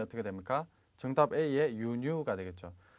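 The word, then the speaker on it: 輸入: 정답 A의 유뉴가 되겠죠. 자, 요 단어는 발음을 주의를 하셔야 됩니다. 장음으로 잘못 알고 계신 분들이 의외로 많은데 유우뉴가 아닌 유뉴, 짧게 유가 된다는 거 꼭 기억을 하시기 바라겠습니다.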